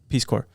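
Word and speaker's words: Peace Corps: Peace Corp or something Peace Corp peace it's pronounced Peace Corp yeah Peace Corp they were like in I think that's what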